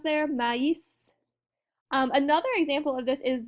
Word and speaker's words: maïs: So in our example word here, if we did not have the tréma, it would just be pronounced me. It'd be one syllable and that would be it. But in this case, because we've got a tréma in there, it's now going to be maïs, right?